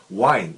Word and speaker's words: wind: wind, 이거 wind로 발음하시면 안 되죠. wind는 그 바람이고 스펠링은 똑같지만 wind는 보통 태엽 같은 것은 삐삐삐삐삐삐삐 간단한 말이기 때문에 wind down은 점점 내려오는